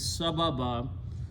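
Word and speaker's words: سبباً: So again the word became sababan. When you stop, you pronounce sababa.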